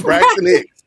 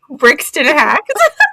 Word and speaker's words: Braxton Hicks: Braxton Hicks? Brixton Hacks. That's how she would pronounce it.